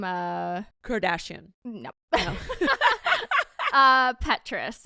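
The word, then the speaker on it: Petras: uh Kardashian nope uh Petrus I want to say is how it's pronounced I have no um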